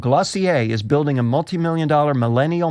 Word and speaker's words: Glossier: new cosmetics line, Glossier, which is pronounced, Tom, Glossier. Okay, all right. I had to look that one up. I know you were doubting that, right? I was going to say Glossier, so I'm glad you